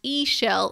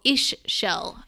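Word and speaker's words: Ixchel: XC h al and it's pronounced a shell or ish shell according to the book and she is the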